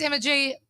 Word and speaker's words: Emma G: My name's Emma G. It rhymes with energy.